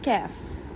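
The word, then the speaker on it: کاف: یہ قاف ہے، قاف، قاف. اور یہ ہے کیف، کیف. یہ سمپل پڑھا جاتا ہے اور یہ اسٹرانگ وائز میں پڑھا جاتا ہے کیونکہ حروف مستعلیہ میں بھی ہے، تفخیم بھی کہتے ہیں اس کو، اور موٹے حروف میں بھی شمار ہے. قاف قاف، اور یہ ہے کیف، باریک پڑھا جائے گا.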